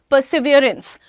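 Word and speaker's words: persevere: परसिवरेंस, परसिवरेंस बोलते हैं ना, लेकिन इसका प्रोनाउंसिएशन इज परसिवियरेंस. परसिवियरेंस.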